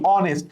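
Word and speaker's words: honest: উচ্চারণ কি? অনেস্ট। তাহলে যেহেতু আমরা ছোটবেলা থেকে পড়ে আসছি অনেস্টের আগে এন বসেন, তাই না? অনেস্ট man, hour, an hour.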